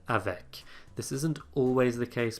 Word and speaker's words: avec: in unlike other consonants a word final c is sometimes pronounced usually if there's a vowel before it as in the word avec this isn't always the